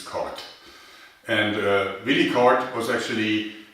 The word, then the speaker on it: Korth: Now I know that Americans would probably like to pronounce as K, but the correct German pronunciation is Cart.